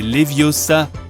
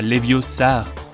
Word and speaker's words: Leviosa: Hé Siri, c'est Leviosa, pas Leviosar.